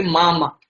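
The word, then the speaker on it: мама: जैसे इसमें अगर अपन यहाँ पे भी देख सके तो M-A इसको अपन प्रोनाउंस कर सकते हैं जैसे मामा।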